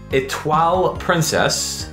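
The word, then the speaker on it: Étoile Princess: That was Etoile Princess.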